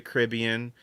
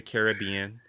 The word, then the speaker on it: Caribbean: I did Pirates of the Caribbean, or as Tony says, Pirates of the Caribbean. As everybody says. What's the difference? It's two ways to pronounce that word.